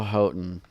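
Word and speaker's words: Houghton: yeah I remember hearing Israel hotton um and that is how you pronounce it I was at a concert when he said that's how you pronounce it so um it looks like hon or something but it's so anyway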